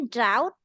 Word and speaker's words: drought: Oh, kalau ini bacanya drought. Drought. Jadi G dan T-nya tidak dibaca. G dan H tidak dibaca.